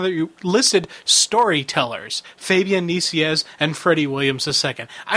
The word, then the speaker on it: Nicieza: Fabian's last name is pronounced Nicieza, so you said it almost exactly right.